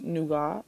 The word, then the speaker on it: nougat: I did like a wine and nougat pairing, which apparently they pronounce nougat.